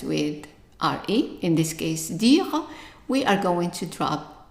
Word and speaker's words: dire: So the verb to say first here is dire. Remember, the E is silent and the I is pronounced as an E sound.